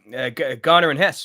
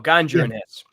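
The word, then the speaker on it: Ganja & Hess: Uh Garner and Hess or Ganjer and Hess. Ganj. Yeah. Yeah. There's two different pronunciations. You see Ghana and Hess or Ganjer and Hess.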